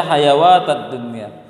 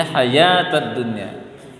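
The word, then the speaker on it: الحياة الدنيا: Hayawa, banyak orang baca hayawatad dunya. Bacanya hayatad dunya.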